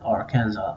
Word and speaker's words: Arkansas: belonged to France well in French they add unnecessary s's to the end of all their words so k a NS